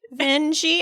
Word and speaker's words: Vinge: say Vernor's last name, whether it rhymes with dingy or rhymes with dingy. Wikipedia has a pronunciation, but it does not rhyme with Minge. No, it does not rhyme with Minge. We rhymed Joan with Minge, and then we found out that was not the right way to say it. And I couldn't remember what the right way was, and I asked Blue Sky, and Natalie said, rhymes with dingy, Vingy.